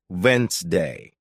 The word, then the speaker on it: Wednesday: For example, you might see the word Wednesday, and think it's pronounced exactly as it's spelled, but listening teaches you it's actually pronounced Wednesday.